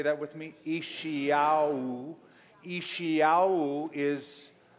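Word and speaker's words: ישעיהו: Ishiyahu.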